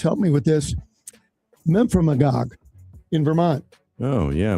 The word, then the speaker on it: Memphremagog: All right, Josh, I like the weird pronunciations. Help me with this. Memphremagog in Vermont. Oh, yeah. Memphremagog.